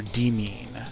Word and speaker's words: Demain: Yeah, Demain is pronounced... Demain. Is, I don't know if it's Demain or Demain, as in the French pronunciation. But yeah. Merriam-Webster says it can either be Demain or Demean.